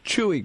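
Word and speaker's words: Chuy: that it that it came that that it's Chewy Garcia, right? Is that how you pronounce it?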